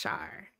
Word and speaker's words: Char: Char, but it's spelled with C-H. Oh, okay, so it's Char.